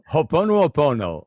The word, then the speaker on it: Ho'oponopono: Ho'oponopono.